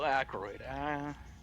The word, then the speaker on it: Aykroyd: how do you spell Aykroyd a-c-k-r-o-y-d oh okay like hemorrhoid but with an ax that's a lie you